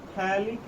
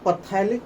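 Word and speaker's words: phthalic: इसको हम लोग बोलते हैं थैलिक एसिड। थैलिक एसिड, आप इसको पथैलिक पढ़ना, पथैलिक एसिड। पी कई लोग साइलेंट कर देते हैं, तो पथैलिक पढ़ो ताकि पी भी आपको ध्यान में रहे।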